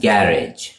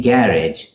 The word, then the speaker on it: garage: scedule next we have Garage in British English it's pronounced garage garage with the stress on the first syllable garage the same garage is garage for the